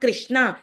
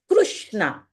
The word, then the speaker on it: Krishna: It is not Krishna, it is Krishna. K and Ru, Krishna.